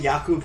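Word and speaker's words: Jakob: __ ] you not it is pronounced like Yak oh that's awesome is they call him yakob Johnson wow I was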